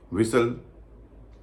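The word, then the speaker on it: whistle: उच्चर नहीं होता बिसल कासल इन सब में भी टी का उचार नहीं होता विसल अपोल चेस्टनट मॉर्गेज इनम भी टी का उच नहीं होता अभी आपने ऐसे शब्दों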